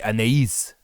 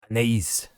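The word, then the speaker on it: Anaïs: You got to say Anais. Anais.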